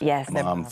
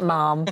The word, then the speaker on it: ma'am: Her Royal Highness first, ma'am to follow. Yeah. Ma'am that rhymes with ham. Yeah. Not mom. Don't say mom.